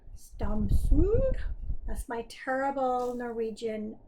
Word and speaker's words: Stamsund: I asked my brother-in-law how you pronounce it. I think he said something like Stamsund.